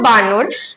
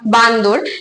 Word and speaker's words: বানর: যে উচ্চারণের অসাধারণতা বসত যেরকম ধরে রাখো বানর কেউ সেটাকে বলছে আবার বান্দর কেউ আবার বলছে বাদর এই যে এটা কিন্তু